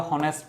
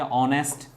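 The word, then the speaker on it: honest: এটাকে কেউ আমরা হনেস্ট বয় বলি। এটাকে বলি যে অনেস্ট। তাইলে এসটা কনসোনেন্ট হওয়ার পরেও এদের উচ্চারণ বাল হওয়ার কারণে এখানে আমরা এন দিচ্ছি।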